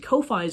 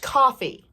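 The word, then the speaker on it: Ko-fi: Support the Patreons and Kofi of your favorite artists to help them achieve a more stable source of income. Excuse me, it's pronounced coffee.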